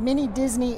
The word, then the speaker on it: Mini Disni: Mini Disney is pronounced the same, but it is spelled differently.